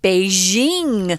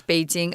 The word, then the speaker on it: Beijing: Foreigners are always saying Beijing, like there's such a sound. Yeah, I don't know where the heck that came from. Stupid, it's Beijing.